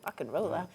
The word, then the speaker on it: Rock and Rolla: Okay, Romero, you've been playing songs for your first solo album, Rock and Rolla. Did I say it right? You did. Rock and Rolla.